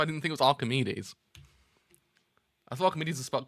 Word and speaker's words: Archimedes: do you how how you spell that man Archimedes Archimedes oh that's how you do it it's Archimedes it's Archimedes I thought it spelled aredes spot